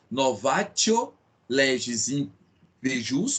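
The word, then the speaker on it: novatio legis in pejus: Isso, pessoal, em latim a pronúncia é essa. Então lex gravior. Essa é a pronúncia correta. E o novácio, a gente soletra, né? Novatio legis impeius, como alguns falam, mas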